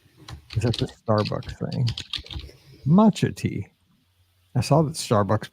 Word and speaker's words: matcha: Okay, somebody tell me how to pronounce what Natalie's asking on Instagram. It's M-A-T-C-H-A-T. Matcha.